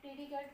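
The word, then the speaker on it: predicate: बात वही है, प्रीडिकेट वर्ड से आपने जो है ना कंफ्यूज नहीं होना।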